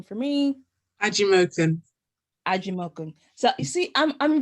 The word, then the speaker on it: Ajimokun: for butchering anyone's name today so please pronounce your last name for me angie milton aji malcolm so you see i'm i'm very particular about